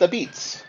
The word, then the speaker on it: apizza: Jason Bischoff-Wurstel to talk about the new exhibit, Pronounced Ah-Beetz, and the story of everyone's favorite food.